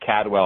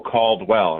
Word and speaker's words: Caldwell: uh for whatever reason people have a hard time pronouncing the A and the L get together so I get called Cadwell all the time it's not like a full called well right like called well yeah called well they they put say